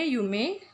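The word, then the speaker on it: 夢: Ini sama bacanya yume.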